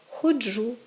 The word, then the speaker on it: ходжу: так мають наголос правильно Вони мають наголос кінцевий коли помилковий наголос він кореневий цей наголос теж зумовлений діалектним оточенням переважно і переважно впливом південно-західного наріччя тобто правильно казати ношу ходжу пишу і можемо спостерігати зовсім